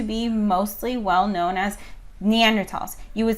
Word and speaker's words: Neanderthal: by germans and that's it was in the neander valley and so that's how they pronounce it um that said i